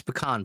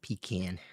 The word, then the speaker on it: pecan: It's pecan pie for anyone who's interested. Which, it should be noted, is in fact the correct pronunciation. It's not pecan.